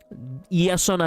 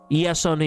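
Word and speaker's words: Iason: more Greek than that yason as in Jason yason it's how you say it in Greek yasas so that's what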